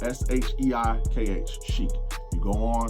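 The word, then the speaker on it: SHEIKH: you also have a an app called Chic it's spelled s-h-e-i-k-h Sheik you go on it's the same premise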